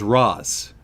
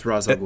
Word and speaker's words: Ra's: Barry did the research and found out that the actual Arabic pronunciation is Ross so I've been saying it right yeah and the lion true pronunciation which is the creators of Batman is racially so your run either way depending on what region you're going with but if you're on the show its Raza it's Ra's al Ghul